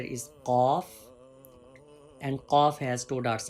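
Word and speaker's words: قاف: Off cough and cough has thick sound, heavy sound. If you raise your tongue toward pallet, you can make your sound heavy and thick.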